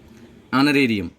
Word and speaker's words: honorarium: Honorarium, H is silent, and I go with the second letter O, A E I O U.